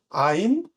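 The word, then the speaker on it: עין: 앞에 라메드라고 지팡이 모양은 L이라고 하면 얘는 이제 R이라고 하는 모양을 갖고 있어서 래쉬라고 읽습니다. 한번 다시 한번 읽어볼게요. 아인, 페, 사데, 코프, 래쉬라고 하는 단어들입니다.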